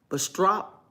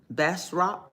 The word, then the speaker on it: Bastrop: I'm going to give it two syllables. Bastrop. But I know in Louisiana, you know, you got all this French saying, French ways of saying things. And so it may not be exactly how I'm pronouncing it.